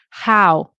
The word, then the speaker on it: How: Ow là. Oh, yeah, yeah, yeah. The H. How. Don't say ow. Okay. How.